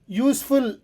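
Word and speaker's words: useful: idea ಇದೊಂದು ಉಪಯುಕ್ತ ಉಪಾಯ ಯೂಸ್ಫುಲ್ ಎಂಬುದು ಯು ವಾವಲ್ ಸ್ವರ ಅಕ್ಷರದಿಂದ ಶುರುವಾದರೂ ಅದರ ಉಚ್ಚಾರಣೆ ಯು ಎಂಬ ವ್ಯಂಜನ ಧ್ವನಿಯಿಂದ ಬರುತ್ತದೆ ಹಾಗಾಗಿ ಇಲ್ಲಿ ಎ ಬಳಸುತ್ತೇವೆ ಇಲ್ಲಾದ್ರೆ ಇದು ಏನಾಗಿರಬೇಕಿತ್ತು ಇಟ್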